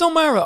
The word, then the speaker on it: O'Meara: But it is O'Mara.